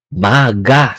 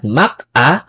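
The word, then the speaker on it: 막아: maingay diyan Okay so Mac plus a is maga not Mac a maga Okay so para pag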